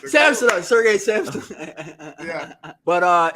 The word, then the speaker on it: Samsonov: Samsonov.